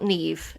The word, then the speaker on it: Niamh: The name is spelt Neve in the traditional way, Niamh.